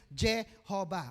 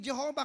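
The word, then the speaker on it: Jehovah: eh Pastor Bakit naging Jehova kanina Jehova sapagkat Yun naman pong J is pronounced y in German so pinalitan lamang po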